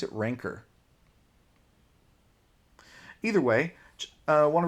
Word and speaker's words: Rancor: I think that the the word ranker is how it's pronounced. But the monster in Star Wars is the rancor. Eh, slightly different pronunciation, but even just putting